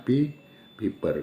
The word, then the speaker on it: papir: Tulisannya memang papir tapi bacanya paper.